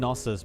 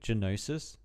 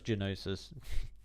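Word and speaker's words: Gnosis: I notice I keep calling him Nosis, but the G is actually pronounced, isn't it? Isn't it Genosis? I'm pretty sure it's Genosis.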